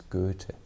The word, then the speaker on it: Goethe: His name was Goethe. That's how you tell his name in the German language. In the English language, yes, Goethe. You would say Goethe. You would, but the right pronunciation is Goethe.